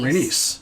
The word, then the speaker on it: Rhaenys: Rhaenys comes in screaming. And that scream... Rhaena. What? Is it Rhaena or Rhaenys? Rhaenys. Okay.